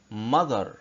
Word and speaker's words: mother: ال TH يا ولاد ممكن يبقى نطقها زال وممكن يبقى نطقها ث، زي كده في كلمة mother mother mother mother يعني أم. هنا ال TH اتنطق ايه؟ اتنطق زال.